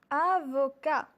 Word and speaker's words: avocat: vos cas avocat le thé ici ne se prononce pas au masculin à vos cas avocat un ingénieur un ingénieur angers niort juge juge